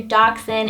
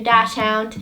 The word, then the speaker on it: dachshund: is my miniature dachshund I got so many comments that I was saying the name wrong so I'm gonna try and get in the habit of saying miniature dachshund instead of miniature - count she's long-haired and the